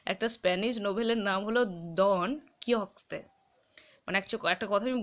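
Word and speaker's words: Don: ও এন এটা হচ্ছে ডন উচ্চারণ মানে ডন ড এরকম করবে না দ উচ্চারণ তন ঠিক আছে দন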